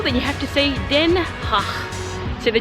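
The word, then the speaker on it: Den Haag: so if you want to know how to pronounce the hague as a local then you have to see then ha so the G is a nice host and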